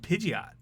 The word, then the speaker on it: Pidgeot: I think we're gonna have to go with Pidgeot.